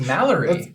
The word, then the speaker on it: Malaree: No, it's Malaree. That's Malaree. Malaree. That is one vowel short of Malaree.